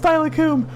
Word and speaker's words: Steilacoom: Okay, but tell them how it's actually pronounced. Steilacoom, which doesn't, like, when you see it, it doesn't sound like that.